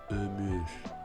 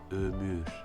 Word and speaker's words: ömür: Donc la bonne prononciation c'est ömür, ömür, qui signifie la vie ou l'espérance de vie.